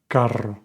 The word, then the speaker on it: carro: The R has two sounds. When it's just one R, unless it's at the beginning of the word, it's a soft R, like caro. And when it's in the middle of the word with two R's, it's a hard R, carro, carro.